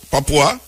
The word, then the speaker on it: Papua: How you pronounce it? Papa. Papo. Papua. Yeah.